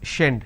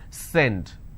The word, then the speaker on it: send: a mistake you will end up pronouncing this as shend send it it's not shend it's send so these are the